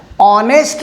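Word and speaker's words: honest: ऑनेस्ट मॅन is respected by ऑल. आता या ठिकाणी स्पेलिंग Hनं स्टार्ट होतं आहे पण उच्चार याचा ऑ असा होतो, ऑ.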